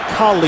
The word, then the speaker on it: Khalil: And he prefers his name to be pronounced Khalil, and I'm really not going to question it.